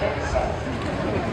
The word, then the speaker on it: cancer: Cara bacanya cancer. Orang kita payah nyebut cancer. Kenapa kanker?